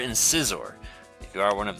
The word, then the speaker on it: Scizor: we're looking at scythe or insight they're good pronunciation Scyther and Scizor if you are one of those pronunciation people